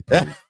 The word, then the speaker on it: Purdy: Rhymes with Purdy in San Francisco, I think. But It is actually Purdy.